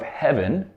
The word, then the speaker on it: heaven: lot of respect so usually it's actually pronounced with the H sound heaven so instead of